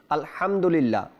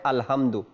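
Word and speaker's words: الحمد لله: প্রথম আয়াত যে রয়েছে আলহামদুলিল্লাহ আলহামদুলিল্লাহ এই হা উচ্চারণ করতে গিয়ে যখন বাংলায় লিখে তখন বলে আলহামদু এটা গুনাহের কাজ এবং মারাত্মক গুনাহ হবে এই কারণে বাংলা উচ্চারণ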